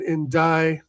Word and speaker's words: Ndiaye: I know we're in talks with Alvarez and we're looking at Ndiaye, is how you say his name, from Everton, who I rate.